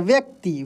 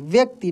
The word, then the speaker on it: व्यक्ति: तो व्यक्ति को कैसे लिखा जाएगा, देखिए उच्चारण पे आपको ध्यान देना है कि आधा व है फिर य है फिर आधा क और त, व को तेजी में पढ़ा जा रहा है और क को तेजी में पढ़ा जा रहा है, इसलिए व्यक्ति का प्रोनाउंसिएशन व को तेजी से पढ़कर और क को तेजी से पढ़कर किया जाता है, व्यक्ति व्यक्ति, ठीक है।